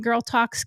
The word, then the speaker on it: GurlTauX: Remember, we spell it GurlTauX because we're going to talks about it, okay?